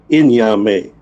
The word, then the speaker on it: Nyame: Now, is your name pronounced Nyame or Nyame? It's either or, but it's really Nyame. Okay, yeah. Okay, Nyame. So your guys just keep that in mind, because I know Nyame is almost, yeah, it sounds like you're saying Naomi. And that's my aunt's name. That's a female's name. So Nyame is his name. Nyame, that's how you pronounce it.